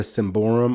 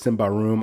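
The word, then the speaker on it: Symbaroum: a big fan of the semborum or simba room however you want to pronounce it i even though it's simba room i will always likely say simba symbol room the game the core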